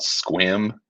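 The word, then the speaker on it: Sequim: washington but he's from this town called squim and it's spelled s-k-e-q-u-i-m and they just call it squam like that's just a no that's not how that should be pronounced that's not uh i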